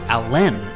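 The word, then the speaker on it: Alan: abdomen Chester Allen Arthur chose to pronounce his middle name with the emphasis on the second syllable so he was actually Chester Allen Arthur Grover Cleveland was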